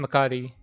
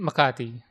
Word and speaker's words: Makati: And then This was This was in a mall in in Makati. I don't know why I pronounce that in an American way. It's in Makati.